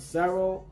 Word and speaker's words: Cero: You can pronounce it Cero or Seto. So I'm guessing you're gonna have to put some sort of asterisk, well, not even asterisk, apostrophe on top of an E or an R to pronounce it. It's like I feel like it's a Spanish word, Cero, maybe. You gotta roll your tongue when you say it too.